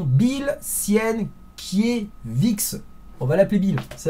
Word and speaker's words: Sienkiewicz: Un papier, alors attention à la prononciation, Bill Sienkiewicz.